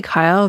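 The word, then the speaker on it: Keil: free compiler setup no Keele tools I think is how you pronounce it killed no one knows we say Kyle but killed seems very reasonable I would also be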